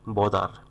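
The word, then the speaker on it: bother: ব্রো মানে ধার করা বা ধার নেওয়া বদার ব্রাদার না কিন্তু বদার বি ও টি এস ই আর বদার মানে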